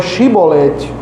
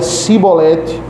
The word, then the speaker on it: chibolete: Se respondesse que não, os homens de Gileade lhe diziam: "Então diga Chibolete." Se ele dizia cibolete, não podendo pronunciar corretamente a palavra, eles o agarravam e matavam nos val?